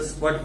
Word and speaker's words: spurt: The term green refers to the crops and revolution refers to the spurt, S-P-U-R-T, R silent S के अंदर स्पर्ट पढ़ते हैं इसको।